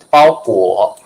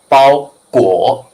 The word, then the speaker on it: 包裹: ok let's take a LOOKAT 19 okay 第19个ok 包裹包裹 okay goal and the pronunciation is like goal okay the pronunciation is